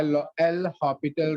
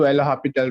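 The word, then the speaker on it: L'Hôpital: Here we have to apply L'Hopital rule. It is pronounced, but we write it as L'Hospital.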